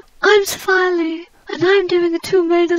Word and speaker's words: Sophia Leigh: Yes, that is how you say it, Sophia Leigh. I had to Google myself, you know. I've been getting my name wrong all my life.